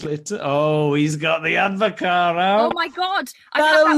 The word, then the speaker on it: Advocaat: I had some Advocaat. Is that how you pronounce it? Yeah, well, there's some debate of it. Isn't it Dutch? Advocaat. Yeah. So I think, do you pronounce the T?